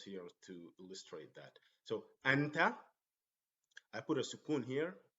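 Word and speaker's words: أنت: So we hit the break. And we don't go anet. Say anta.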